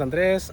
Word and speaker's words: Andres: to who I am my name is Andres I go by Dre hence the name Dre's lawn care because it's easier to to say instead of you don't if you don't know how to roll your r's um but yeah pretty